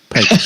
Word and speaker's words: Pecos: But you got to say it more Mexican. Pecos.